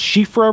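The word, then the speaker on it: Siofra: is telling us that uh it should be pronounced shifra river yeah it's got that io that probably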